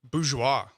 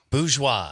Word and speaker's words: Bourgeois: Bourgeois. Bourgeois. Yeah. I like that. All right. I don't know how to spell it, but I know how to say it.